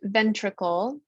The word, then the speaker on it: ventricle: word puzzle p-u-z-z-l-e puzzle so here's the word ventricle we do hear the short i in this word even though it's the open syllable in the middle of the word but here's the word